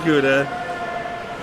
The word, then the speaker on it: Gouda: His name is Gouda. Oh, okay. I thought we were saying that name wrong.